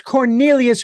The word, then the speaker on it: Cornelius: all of a sudden well you got the first you got the first syllable there and it's it's significant that one of my favorite vegetables is corn thank you for your uh it's Cornelius Grove ladies and gentlemen